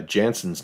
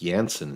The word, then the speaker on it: Jansen: for example that uh jansen's name which I've been pronouncing with a hard J suppose her last name has an unconventional pronunciation like it starts with a y sound it's yansen instead of Jansen well